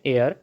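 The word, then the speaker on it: heir: बाज़ दफ़ा ऐसे नाउन्स जो H से शुरू हो रहे हैं लेकिन उसमें H की आवाज़ ह नहीं निकल रही बल्कि वो साइलेंट हो जाती है। ऐसे मौके पर रूल बदल जाता है। अब हमें अ हेयर नहीं एन एयर, an honour, N आर इस तरह से कहना पड़ेगा।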